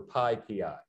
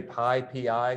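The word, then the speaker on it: PyPI: a place called the python package index or pi pi and it's important to say pi p i when we pronounce it because pi pi is actually something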